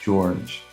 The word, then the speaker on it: Jorge: I do want to say though, my name is actually pronounced George. It is spelled Jorge, and there's a reason for that.